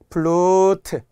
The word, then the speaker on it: 플루트: 플룻 안 돼요. 티벳 고원 안 돼요. 플루트, 티베트 이렇게 발음을 생각하면서 외우시고.